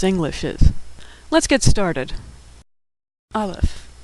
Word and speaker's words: Aleph: Aleph, which is silent, or some would say, makes the sound before the A in apple. Aleph.